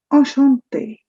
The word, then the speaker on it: enchanté: Enchanté. The CH in French becomes sh.